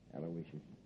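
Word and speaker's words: Aloysius: that M name right it's a l o y s i us aloicious sure how did I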